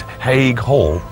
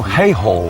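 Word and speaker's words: Haigh Hall: it really is a very impressive building I'm pronouncing it correctly by the way is it ha Hall I'm afraid it isn't I've got to correct you though it's actually he Hall oh hay Hall hay Hall I was in hay and straw all right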